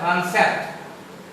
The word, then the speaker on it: concept: P silent हो जाएगा, लेकिन एक साथ यदि CEPT रहेगा तो P साइलेंट नहीं होगा। जैसे CONCEPT, अब इसका उच्चारण आप देखेंगे तो होता है कॉन्सेप्ट। कॉन्सेप्ट मतलब सोच या फिर विचार होता है। अब गौर करिए कि एक साथ CEPT आया, इसलिए P का उच्चारण आधा प हो गया।